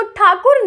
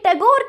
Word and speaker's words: ठाकुर: लेकिन जो British officers थे वो ठाकुर नेम ठीक से प्रोनाउंस नहीं कर पाते थे। इसलिए वो हमेशा मिस प्रोनाउंस करके टैगोर कह के बुलाते थे।